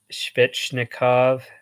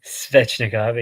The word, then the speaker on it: Svechnikov: skin one goal per game seven goals uh spitznikov spetsnikov yeah svechnikov in Carolina 0.88 sometimes the pronunciations just don't come out right huh um